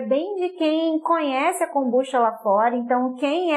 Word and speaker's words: kombucha: aqui na língua portuguesa, você juntando seria kombucha, né, e como tem esse acento, você acentuaria ali no final, então você colocaria a sílaba tônica, né, então colocaria essa entonação, kombucha. Mas a gente sabe que na língua portuguesa não existe aqui essa acentuação no final.